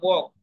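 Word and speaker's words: walk: हम बोल रहे हैं वॉक, तो वॉक में जो ये एल है, ये लिखा तो जाता है लेकिन पढ़ा नहीं जाता।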